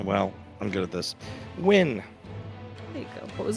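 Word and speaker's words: Wynne: Irena Ween. Ween. Ween. W-Y-N-N-E. Win. Ween. Pronounce Ween. Win. We can go with it. Okay, it's fine. It's Win. Unless you want another Ween for us to make fun of.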